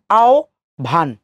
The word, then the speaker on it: আহ্বান: তাহলে ও ভ, আকার দন্তন্য নিচে হস, আও ভান, আও ভান। সো এখানে একটা ঝামেলা আছে, ঝামেলাটা একটু পরিষ্কার করে দেয় আপনাদেরকে। আমাদের উচ্চারণের জন্য দুটি বিষয় আমাদেরকে ফলো করতে হয়।